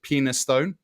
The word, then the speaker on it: Penistone: yeah, But there are a couple of names here for places in Yorkshire, and one of them is Penistone. pronounced Peniston, but yes, it is spelt Penistone.